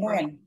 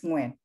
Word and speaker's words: Nguyen: can you pronounce your last name? Nguyen. The last name is Nguyen.